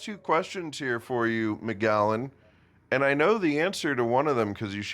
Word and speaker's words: McGallon: McGallen. Gotcha. So my middle name is Macallen. M C A L L. Couldn't really pronounce it much as a child and it always came out sounding like McGallen.